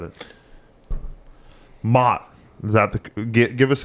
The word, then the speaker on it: Maat: Maat. Is that the give us a correct pronunciation? Run us through the It's like Mott applesauce.